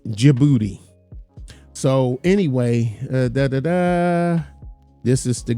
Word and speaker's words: Djibouti: And then jibouti the the D is the D is silent. Djibouti.